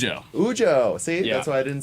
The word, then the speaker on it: Ujo: Did I pronounce Ujo. Ujo.